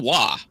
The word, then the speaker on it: Roy: Stephen Wah. Wah. That's it, Joe. Well, it's spelled Roy.